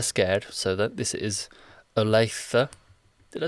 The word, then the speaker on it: Olathe: Adventure when they're scared so that this is Olathe did I say that right yes yes he